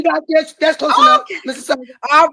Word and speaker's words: Mississauga: Is it Mississauga or Mississauga? You got this. That's close enough. Mississauga.